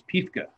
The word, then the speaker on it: Piefke: They call the Germans Piefke, is the German pronunciation.